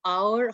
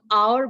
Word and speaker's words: hour: नाउ there is another situation wherein the words starting with H are there, but this H is muted.